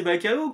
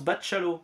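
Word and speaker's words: Bachalo: y avait Chris bachchallo vous prononcez bacalo comme moi depuis des années et ben non ça se prononce bachchallo et c'est lui-même qui le dit alors autant vous dire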